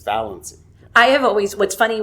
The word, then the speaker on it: Valancy: There's manuscript evidence that it's Valency, like it's capitalized VAL in the manuscript, Okay. and then the EN, and then the C, like Valency. So it's Valency. And emphasized, so like it's Valency, it's not Valencia, it's not Valency, it's Valency.